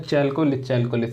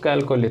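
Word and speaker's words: Chalcolith: अब इसमें मैंने बहुत लोगों को देखा है चैल्कोलिथ पढ़ते हैं, तो वो चैल्कोलिथ नहीं होता, इसमें एच जो है वो क्या है, वो साइलेंट है। ठीक है, उसमें एच जो है वो साइलेंट है, तो इसमें इसको कैल्कोलिथ कहा जाता है।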